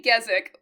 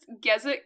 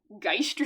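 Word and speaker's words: Gesicht: No, the anime pronounces Gzic or Gzik. I think when I was reading the manga because my brain refuses to pronounce words I guess how they're supposed to be. I was just pronouncing my head head like gisted or something.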